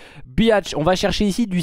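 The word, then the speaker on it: Bihać: moi on est à biatch oui ça se prononce comme ça je suis sûr de moi biatch on va chercher ici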